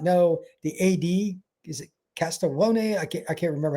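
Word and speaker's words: Castiglione: For those that do not know, the AD, is it Castellon? I can't I can't remember how you say his name. Castigleon.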